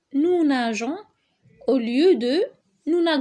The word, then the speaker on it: nageons: doit rajouter ce petit e qui fait qu'en prononce nous nageons au lieu de nous un grand d'accord donc